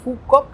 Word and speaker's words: Phú Quốc: Il s'écrit donc Phú Quốc mais on le prononce (accent du sud du Viêt Nam) : Phú Quốc Et donc, cette île est plutôt sympa, en fait.